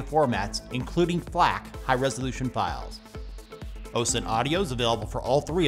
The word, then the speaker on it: Ocenaudio: Coming in at number one, the best free Audacity alternative is Ocenaudio, often mispronounced as Ocenaudio.